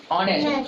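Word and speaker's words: honest: और H silent कब रहता है, जब वो ओ से पहले आता है, ठीक है। तो ओ से पहले आया तो इसको एच उच्चारण नहीं होगा, तो इसको पढ़ेंगे ऑनेस्ट।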